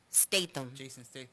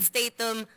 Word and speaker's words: Statham: much gonna be Jason I can never pronounce his name state them yeah I pronounced it wrong the last time and I got ridicules so Jason Statham Dwayne the rock Johnson